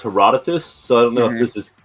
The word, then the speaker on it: Herodotus: so like the uh the poet is pronounced herodotus so i don't know